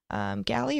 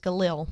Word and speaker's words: Galil: SLG 95, SL 95 or 96, Steyr AUGs, Taver Uzis, Galley or Easy Uzi Sporter, Galley Sporter, or I guess that's pronounced Galil. My pronunciation was wrong on that.